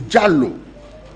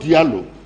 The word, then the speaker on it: Jallow: far as i'm concerned it is jallow and not dialogue you know so those